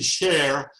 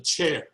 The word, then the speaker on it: Cher: to if it were french it would be share if it's spanish's chair the hen is purely arbitrary i usually pronounce a chair just like a chair i went to holland